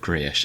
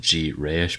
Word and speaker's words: Grayish: And finally, we have Grayish, and I actually had to look up if you pronounce it G-Rayish because they have that dash, but apparently it's just there for no reason.